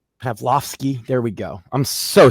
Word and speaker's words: Pavlovski: I I can't ever pronounce his name. Pavik Pav Pavlovski. Pavlovski.